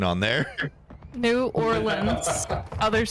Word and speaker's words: New Orleans: New Orleans. New Nolan's. Orleans. Securing objective Alpha. Nolan's. We're taking Alpha. It doesn't even have the right pronunciation on there. New Orleans.